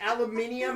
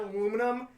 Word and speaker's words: aluminium: I can understand that it's actually pronounced aluminium and not aluminum.